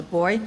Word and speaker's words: buoy: we learned we launched boy where I come from we actually pronounced a boy so buoy a new online resource